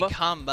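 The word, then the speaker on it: Qanba: I don't know if it's Kamba. Kamba. It's actually Kamba.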